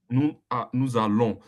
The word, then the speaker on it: nous allons: We join it together, you pronounce it fastly. Nous allons. It changed the S to become Z. It changed the S Yeah, to become nous Z. allons.